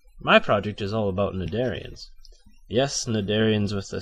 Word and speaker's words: cnidarian: wow wait a minute is that c really supposed to be there it's pronounced narian not sadarian it's like I'm back